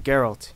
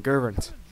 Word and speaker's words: Geralt: some reason he uh odo has trouble pronouncing geralt he keeps saying girvin we all know spies